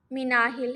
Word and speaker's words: Minahil: हैं Islamic info इन उर्दू आज का नाम मिनाहिल है मिनाहिल नाम की इंग्लिश में स्पेलिंग है एम आई एन ए एच आई